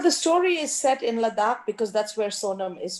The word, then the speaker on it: Ladakh: it takes place in in ludwig right in ladakh yes i'm saying it right okay um in